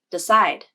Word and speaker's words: decide: The I vowel is unstressed in a word like decide.